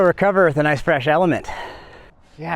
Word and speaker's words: LMNT: I've been lucky enough to partner with the fine folk over at Element, that's spelled L-M-N-T, pronounced Element, and they make a really simple electrolyte solution.